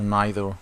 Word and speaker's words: neither: Speaking of pronunciation, you can say either or either, neither or neither, both are accepted.